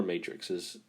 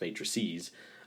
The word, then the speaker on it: matrices: little bit okay so here are all our matrixes matrixes oops we don't want to say that and that's like the matrix movies it's pronounced matrices so we have a as a square meant